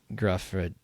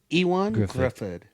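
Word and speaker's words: Gruffudd: Tim Story did it and um yeah I believe this Ian Gruffford Gruffford I don't know how I thought he did a great job Wikipedia pronounce it what they say Griffid okay what a dork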